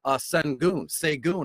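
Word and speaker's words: Şengün: And I also love Alperen Sengun, I believe is how you pronounce his last name.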